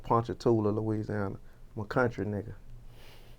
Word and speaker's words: Ponchatoula: I feel Now, how do you pronounce the name of that town again? Ponchatoula.